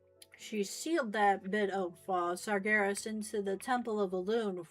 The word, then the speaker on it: Sargeras: I find it funny that this story of our fight with Sargeras or was the game originally called him Saras. Sybr was two two syllables instead of three.